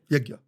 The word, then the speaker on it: Yagya: So is it fair to say that a havan is a much larger bomb of progress, and then a yagna, how do you say it? Yagya.